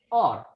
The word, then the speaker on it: hour: Here words begin with H, consonant, but in pronunciation the H is silent. Honor, honest, or.